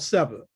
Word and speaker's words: seba: It's called seba, s e b a. We don't really know how the Kemites spoke, so there's a vowel put in there, but it's spelled s b a.